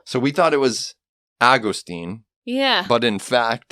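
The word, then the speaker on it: Agustín: body means well exactly Austine I know that would like to americanize it as Augustine but technically it's Austine all right here we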